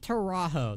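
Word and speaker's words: Taurajo: Camp Teraho. That's how you pronounce it.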